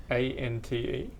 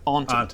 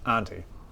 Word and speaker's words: Auntie: ANTE. No, as in your uncle and aunt. Auntie. Auntie.